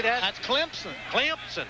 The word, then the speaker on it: Clemson: That's Clemson. Clemson. Clemson.